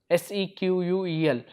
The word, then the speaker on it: SQL: Okay, normally pronounced as SQL, SEQUEL.